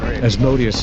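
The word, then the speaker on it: Asmodeus: So the next three, the first one is Asodas, which is he's a demon of impurity, but he's specifically the demon of homosexuality and men. So what's Asodus? Yeah. As Modius is sometimes how you hear it pronounced as well.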